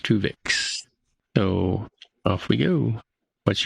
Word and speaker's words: Twovix: episode 1 two vix not spelled like the Voyager episode but TW wov iix Tu vix so off we go